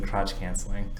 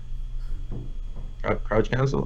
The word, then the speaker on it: crouch cancel: I keep mispronouncing crotch canceling. Crouch cancel? I call it crouch cancel.